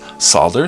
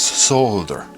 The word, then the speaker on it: solder: Yes, where you live the L is silent. That's okay. Do it your way. But do know that other people pronounce it differently. Sometimes it's sad. Sometimes it's solder, sometimes it's solder.